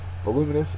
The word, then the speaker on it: voluminous: terms of hearing things voluminous is an adjective second syllable is accented it means of great